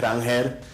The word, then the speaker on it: Ranger: My name is actually Rangel, but however you guys want to address me, Ranger, is how most people do, so I'm comfortable with either.